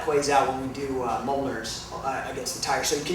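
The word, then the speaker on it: Mjölnir: Okay, so the next thing that we're going to do is called a Mjolnir and it's spelled very weird. It doesn't It's not phonetic. It's m j o l l n i r and it's It's a reference to Norse mythology.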